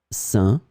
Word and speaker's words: sein: In this lesson, we will see together 3 words that are written differently but pronounced the same way. Sain, sein, sain.